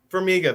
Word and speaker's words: Farmiga: Farmiga. There you go. I can never remember how to pronounce the last name.